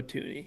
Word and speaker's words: Thuney: So like I always pronounced it that way. So yeah, it's Joe Tooney. Okay, which would be easy to remember from now on. For sure, like Looney Tunes.